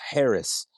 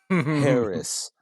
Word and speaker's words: Haracz: all the socias and my last name is spelled just like it sounds Harris Harris you catch me on